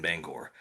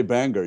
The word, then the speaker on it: Bangor: my aunt lived in Bangor, so nice. it's And been a you said it right. You said it right. You didn't say Bangor. You said Bangor.